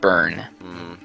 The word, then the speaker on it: Byrne: It's Byrne, but it's pronounced Burn.